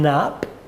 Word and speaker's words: Knapp: and social care Martin Knapp the K is silent by chance another health